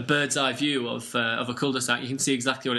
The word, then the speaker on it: cul-de-sac: In French, if you pronounced it correctly, it'd be cul-de-sac.